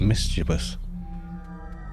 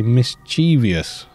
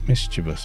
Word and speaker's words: mischievous: you pronounce the word mischievous quite a lot of people say mischievious and put an extra syllable in there it's mischievous apparently I think that's